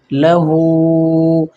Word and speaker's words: لَهٗ: آہستہ ہجے کرنی ہے۔ لام زبر لا، ہا الٹا پیش ہو، لہو۔ لہو کیا ہے؟